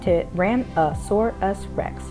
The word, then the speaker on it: Tyrannosaurus rex: as the t-rex and just to reiterate that's pronounced to ram a sore us rex let's go ahead and get into this video